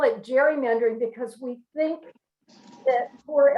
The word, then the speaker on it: gerrymandering: And he called it gerrymandering. Well, over the years, the hard G became a soft G, and we call it gerrymandering.